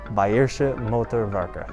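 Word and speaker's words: Bayerische Motoren Werke: works but in native tongue it would be bairsha motorvaca thank you and have a great day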